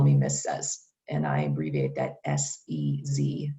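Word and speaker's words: Sez: just call me miss says and i abbreviate that s-e-z and it's pronounced like simon says although it's not spelled that way so if you were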